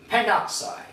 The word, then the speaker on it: pentoxide: So normally the A is dropped or omitted. So in this case, we say dinitrogen pentoxide.